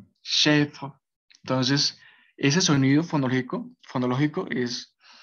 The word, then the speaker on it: chèvre: Entonces, la primera palabra, que sería cabra, se pronunciaría chèvre, chèvre. Sí, la primera es un poco complicado de pronunciar porque tiene pues esa perdón, esa R que pues en sí es como, digamos cuando uno hace gárgaras con agua.